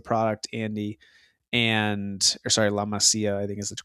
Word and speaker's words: La Masia: And or sorry, La Masia, I think is the correct way to pronounce that.